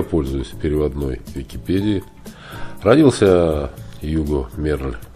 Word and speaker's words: Hugues: Сегодня Гуго Мерль, или Юго Мерль, так произносится, входит в список величайших художников Франции и всего мира.